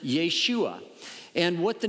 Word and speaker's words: Yeshua: Testament name Joshua and probably in those days you would pronounce it Yeshua and what the name